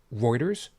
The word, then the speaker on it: Reuters: It is pronounced Reuters, right?